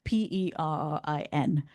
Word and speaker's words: Perin: um is called Lisa Perne. Um I think I'm pronouncing her last name right. It's P E R I N. Um so I think it's Perin and she's incredible.